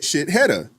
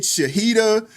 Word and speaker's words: Shahida: So the guy, he's calling her name out, and he said shitheada. Because that's how it's spelled. You know what I'm saying? And she goes off on him. No, it's Shahida, this, that, and the third.